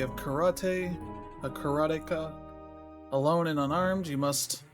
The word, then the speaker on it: Karateka: I pronounce it, and I've always pronounced it, and you're going to hear me say this all the time, is Karateka.